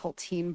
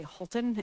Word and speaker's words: Haltine: And I'm just laughing because my last name is in fact pronounced Haltine, but I often say Holton if people need to to spell it.